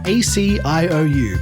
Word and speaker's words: Aciou: That's Aciou. Please say each letter separately.